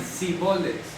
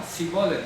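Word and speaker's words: שיבולת: al norte de Galilea, Dishibolets, y ellos decían Sibolets, porque no sabían pronunciarlo bien. ¿Ya? Entonces ahí era como identificaban quién era efrateo y quién no. A ver, di Shibolet, ¿no? Shibolet, venga, y lo mataban. No pronunciaban la shin.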